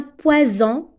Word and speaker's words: poison: même chose ici un poison est-ce entre deux voyelles ça se prononce Z un poison donc vous